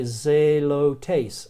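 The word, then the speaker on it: ζηλωτής: zealot zelo tastes so if you were trying to say zealot one of the early first century Jewish religious groups you would say zelo tastes zelo tastes but that at the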